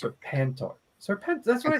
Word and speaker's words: Serpentor: So in that box is a sealed original Serpentor. Unopened. Yes. Serpentor. It sounds like Serpenthril. That's Serpentor. It's Serpentor.